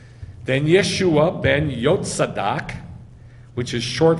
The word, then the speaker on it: Yeshua: And it says in English, Yeshua with a J. We know there's no J in Hebrew, right? So what is it? Yeshua. Then Yeshua ben Yotzadak, which is